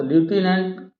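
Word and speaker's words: lieutenant: में पूछा जाता है स्पेलिंग लेफ्टिनेंट तो लूटिनेंट पढ़ते हैं लेकिन लेफ्टिनेंट वर्ड है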